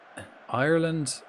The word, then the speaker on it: Ireland: Ireland. Ireland has two syllables. R. So it's like R like a pirate like R. Land. Ireland.